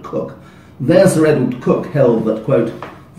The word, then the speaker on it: Coke: So in the proclamations case, Sir Edward Cook, spelled C-O-K-E, we always pronounce words in English different from how they sound, not Coke, but Cook.